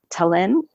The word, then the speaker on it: Tallinn: my friend Bill Fox who is living in Tallinn Estonia is that right did I pronounce it correctly that's correct sir Tallinn Estonia